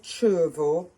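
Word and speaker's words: Cervo: is a different shape this one is called chervo it's spelled c-e-r-v-o this is the finest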